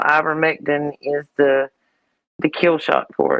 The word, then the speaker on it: ivermectin: Does it rhyme with pectin at the end? It does. Does it really? Ivermectin.